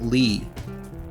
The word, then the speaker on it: Lai: One of the pandas is called Lai, pronounced Lee. Okay, pronounced Lee.